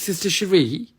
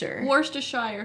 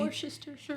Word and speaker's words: Worcestershire: Roy's Sister Cherie?